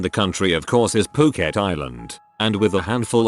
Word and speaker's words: Phuket: that I realized that I had been pronouncing Phuket as frick at the entire time as I was reading